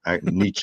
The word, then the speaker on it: Nietzsche: a certain level uh your professors will yell at you if you don't pronounce it with the German niche uh but I don't like those kind of pretensions I speak English for English people.